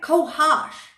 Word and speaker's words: cohosh: Kohash, right? Kohash. Yeah, that's how you say it.